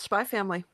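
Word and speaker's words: Spy × Family: to be talking about spy family it's my family the x is silent that's going to be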